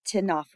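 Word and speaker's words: Ctenophora: so this is actually the philm name Tena the C is silent the tenaa are the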